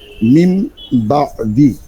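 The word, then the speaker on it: من بعد: বা দাল জের দি কিন্তু এখানে উচ্চারণ হবে মিম বাদি মিম গুন্না আছে না মনে আছে গুন্না সহিত বলছিলাম তাইলে গুন্না করতে হবে মিম বাদি মিম বাদি ফজলে আলী ভাই ঈদগামটা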